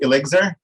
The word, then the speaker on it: ILLIXR: introduction umar so yes you were not pronouncing it correctly it is elixir uh it stands for